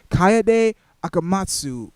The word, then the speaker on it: Kaede Akamatsu: Already we get to see who the main protagonist is, and I believe it is Kaede Akamatsu.